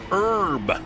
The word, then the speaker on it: herb: English lessons it's pronounced herb the H is silent the H is silent